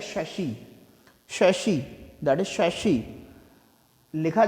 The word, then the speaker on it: chassis: बोलते हैं क्या, चेचिस, चेचिस वर्ड सुना होगा, that is नॉट चेचिस, that is शशि, शशि, that is शशि।